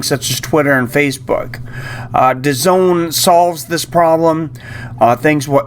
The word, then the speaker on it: DAZN: this review to zone I know it's spelled funny Daz and I guarantee you they say that spells the zone I'm not sure how